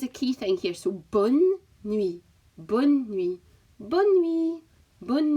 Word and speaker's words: bonne nuit: But the pronunciation is a key thing here. So bonne nuit, bonne nuit, bonne nuit, bonne nuit.